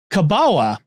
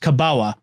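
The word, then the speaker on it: kabała: into common use in the Polish language as kabawa uh which is looks like it's an element but it's pronounced kabawa of course it must have come to common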